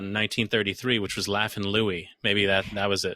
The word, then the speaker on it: Louis: in there where he's like actually my name's louie they could have satisfied everybody that could be